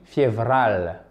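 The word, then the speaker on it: февраль: Février se dit févral. Févral. D'accord? Vous roulez un petit peu le R.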